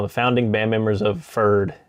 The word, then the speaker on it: Pferd: founding band members of fir'd it's pronounced for no P it's German for horse you're looking at their